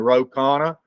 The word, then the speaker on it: Ro Khanna: If you recall, I discussed it with you because we had, I think, the congressman from California, Ro Khanna, I think is, if I'm pronouncing his name correct.